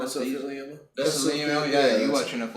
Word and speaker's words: mesothelioma: Yeah, or melathioma or something. I don't know. Yeah. Melanoma? No, you said. I think you said it right. Mesothelioma.